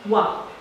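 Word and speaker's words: は: partikel Wow partikel ini ditulis dengan menggunakan hiragana H namun dibacanya adalah wah nah partikel wa ini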